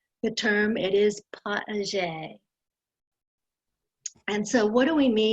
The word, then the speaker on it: potager: For other people who may always forget how to pronounce the term, it is potager.